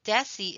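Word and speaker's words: deci: two D's here so a way to remember that is DECA is close to the K and you'll see Desi is close to the C so it's going to have more of the Soft C Sound our base can be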